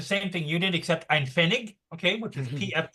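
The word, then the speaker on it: Pfennig: pretty much the same thing you did except an fenig okay which is PF n i g I believe is how it's spelled is at the because say use zeros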